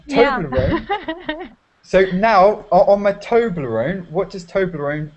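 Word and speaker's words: Toblerone: So now on my toblone. What does Toblone sound like? on my tobler. Okay, I'll tell you if you you don't know. Yeah, toblone rhymes with alone.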